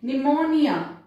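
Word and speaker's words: pneumonia: P silent है receipt, फिर निमोनिया पी के साथ एन आया इसको क्या बोलना है निमोनिया बोलना है, इसमें पी को प्रोनाउंस नहीं करना है।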